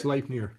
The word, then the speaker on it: Sleipnir: Sleipnir is am I pronouncing that right, Dad? Sleipnir? Sleipnir.